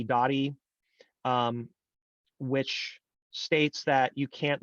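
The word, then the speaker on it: Doty: Dottie, which states that you can't litigate ownership in a summary proceeding. And Dottie is spelled D-O-T-Y for what it's worth.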